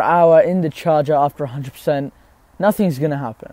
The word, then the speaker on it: X: the iPhone X exactly the X is pronounced the 10 man mister 10 okay